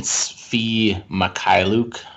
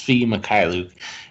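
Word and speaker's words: Mykhailiuk: so a guy like sadiq bay or even fee makai luke i i took a long time to master that pronunciation but it's fee makai luke uh he's he's a guy that's going to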